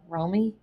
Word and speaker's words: Romy: Now, Rob and Michelle Reiner were found in their home by their daughter, Romy. Is that how they say it? Yeah. Romy.